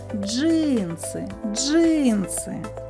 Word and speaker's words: джинси: ки складів два склади визначимо куди падає наголос покличемо джинси джинси наголос падає на перший звук и наступне слово джем